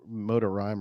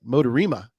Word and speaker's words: MoDaRiMa: I think back in the day I said the Motor Rhyme or something. That didn't sound right. Motorima.